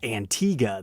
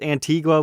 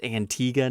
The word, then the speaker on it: Antigua: attention that there's a country called Antiga that's spelled the exact same way and unfortunately that that's made me lose my love for this model because Antigua was such a weird word having to pronounce it Antiga now it's just not as cool I'm sad I think I'll just continue to pronounce it incorrectly because I've never seen